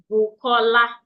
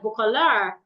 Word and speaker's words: Bukola: So that is why if I want to pronounce my name, I will say it together and say Bukola. I will say Juanita instead of Juanita. So if an American person wants to pronounce my name, they'll say something like Bukola, Bukola.